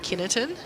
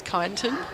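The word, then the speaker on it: Kyneton: I got absolutely roasted on the way out for calling it kineton. Apparently it's kiton.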